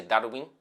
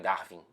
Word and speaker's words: Darwin: Eu tenho que chamar ele de Darwin, que é o nome certo, que é a pronúncia correta, mas eu só consigo pensar em Darwin.